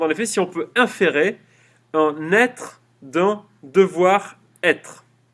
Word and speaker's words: inférer: Hume se demande en effet si on peut inférer, comme ça se prononce, IN, ferrer.